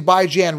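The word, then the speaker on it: Bijan: channel because it's funny I'm the only one pronouncing by Jan right if you're new to the channel by bi as in biweekly and Jan as in ran and it's so funny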